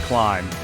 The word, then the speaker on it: climb: climb lamb and thumb the B is there but it's silent so climb is pronounced climb another common silent letter